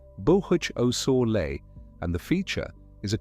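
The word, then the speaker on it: Boösaule Montes: The name is pronounced roughly Bohuch Osor, and the feature is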